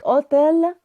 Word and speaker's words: hôtel: لو هنلاحظ كلمة de الأبوستروف ما اتغيرتش، عشان كلمة اوتيل الأش ميو، يعني الأش ما بتتنطقش، عشان كده عملنا الأبوستروف.